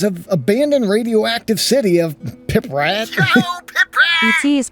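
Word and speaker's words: Pripyat: And as I had previously mentioned, the developer took 3D scans of abandoned radioactive city of Piprat It is pronounced Pritet.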